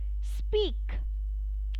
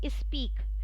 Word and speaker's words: speak: india what happens is people they normally pronounce speak as is speak so it does not speak there is no i in front of it it goes like sir